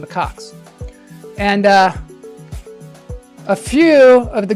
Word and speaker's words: macaque: Only the Tibetan macaque. That's how you say it, macaque.